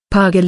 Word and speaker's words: Pargalı: pagal Ibrahim Pasha Turkish pronunciation paral Ibrahim pa, 1493 paga